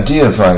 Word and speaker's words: deify: 你看这个字母的 e，它发音变成 e，字母的 i 它反而变成这个字这发音啊跟音标对这个非常不对称。